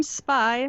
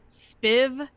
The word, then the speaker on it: SpyV: i'm will and i'm spy hello and uh that v is silent right yeah it is silent